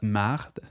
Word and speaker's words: merde: You'll also hear the word merde, meaning shit, typically pronounced as marde, such as in the phrase mange la marde.